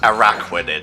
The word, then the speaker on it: Araquanid: Okay, it's pronounced Araquanid.